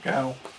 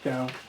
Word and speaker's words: Gao: Goa is next. Or Gao. Not Goa. Gao.